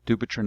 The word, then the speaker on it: Dupuytren: lack of public awareness it's an uphill battle do patron is a strange word to English speakers it's hard to pronounce it's hard to spell it doesn't rhyme